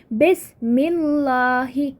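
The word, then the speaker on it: بسم الله: We have b and then we have ism, bismillahi. Right, ba, attachment of ba will result in dropping of this alif in pronunciation. Right, it becomes bismillah.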